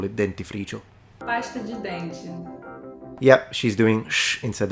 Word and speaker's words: dente: Pasta de dente. Pasta de dente. So I'm noticing in the Brazilian variety, the D is pronounced like a J. So together with the T pronounced like a Ch, if I was right,